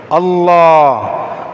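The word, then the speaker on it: الله: ஆகவே அல்லாஹ் என்று உச்சரிக்கின்ற அந்த முறை, நாக்கினுடைய தொங்கல் அதனை மேல் முரசோடு வைத்து டச் பண்ணி கனமாக கண்ணியமாக உயர்த்தி உச்சரிக்க வேண்டும். அல்லாஹ் அல்லாஹும்ம, அல்லாஹ் என்ற சவுண்டோ அல்லாஹ் என்று பல்லில் நாக்க வைப்பதோ அந்த எழுத்துக்குரிய மஹ்ரஜ் கிடையாது.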